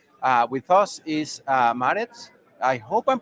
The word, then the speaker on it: Maaret: Uh with us is uh Marit. I hope I'm pronouncing it well. I won't try your last name because I know I'm going to mess it up. How do you say your name right? Marvi.